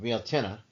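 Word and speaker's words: Bealtaine: Now we have uh built which is fire and fertility and it's found pronounced balta right and this is a festival that celebrates fertility, renewal and the return of life to the land.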